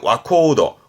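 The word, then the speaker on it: 若人: 젊은 사람은 3번 3번인데 발음이 특이 케이스라 특이하게 와코도 와코도 합니다 그래서 정답은 3번이 와코도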